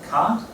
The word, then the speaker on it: Kant: Now they take this idea from Kant, who, I'll write it on the board.